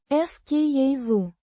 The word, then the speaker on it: скажу: Pronounced. ska-zhu. With a hard К. and a За. sound similar to the s in pleasure.